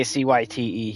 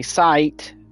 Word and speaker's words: Cyte: Now, you can actually say CYTE here, because that is actually how you're supposed to say his name, due to the devs talking about him in that manner. And I mean, like, every dev says CYTE. They don't say sight, they say CYTE.